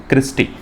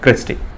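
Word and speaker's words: cristae: आप क्या बोलते हैं, क्रिस्टी। ठीक है, क्रिस्टा या क्रिस्टी, इसका एक्चुअल प्रोनाउंसिएशन है क्रिस्टी।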